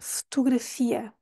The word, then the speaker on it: fotografia: mas em português é fotografia fotografia s o primeiro o nós nem pronunciamos o segundo o segundo vai ter o som da u fotografia mas mesmo assim